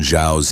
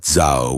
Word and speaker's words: Xiao: Also, you've been pronouncing Chairman Xiao's name wrong. It's Xiao with a falling tone, not Zho with a rising tone. The tone changes the meaning.